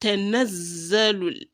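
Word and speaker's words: تَنَزَّلُ: And that is why you say nazza and not just naza. Not naza, not tanazzalul, but tanazzalul. When you say tanaz, you have pronounced the first one, and then zalul, the second one.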